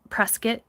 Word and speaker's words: Prescott: I do like Prescott Prescuit. Oh my god. I remember when I first went there, I got Oh, every Prescuit local was yelling at me in my comments for saying it wrong the entire video.